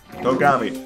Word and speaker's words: Togami: Togami. Need to remember that's how you say it.